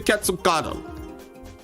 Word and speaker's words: Quetzalcoatl: And yes, I've heard this pronunciation enough. Heard this pronunciation enough for it to be correct. This is the Quetzalcoatl.